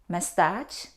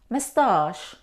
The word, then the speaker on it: mustache: And how do you pronounce these words? Champagne? Mustache? No. Though we see the combination C and H, we don't pronounce ch. We pronounce sh. Champagne, mustache, or mustache.